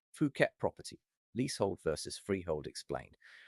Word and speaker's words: Phuket: Pristine beachfront villa, maybe a sparkling swimming pool, all that tropical greenery, and it's in Phuket. And let's get that right from the start. It's P-O-K-E-T, pronounced Phuket. Definitely not Phuket.